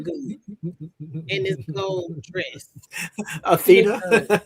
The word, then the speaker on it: Athena: I love that you call her Althena. I'm sorry. What's like your name wrong and it's in my head? That's your name, but okay. What's her name? Athena, because it's like the Greek goddess.